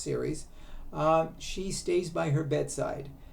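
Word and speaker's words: Ceres: name is series c-e-r-e-s I guess it's pronounced series she stays by her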